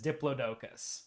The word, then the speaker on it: Diplodocus: one that is listed the first one is dioicus the second one is dioicus and the third one is Diplodocus okay all right okay but